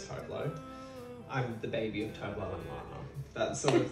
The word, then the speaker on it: Tove Lo: baby of toflo and it's actually pronounced tuvalu but most people know how is Tove Lo I'm the baby that's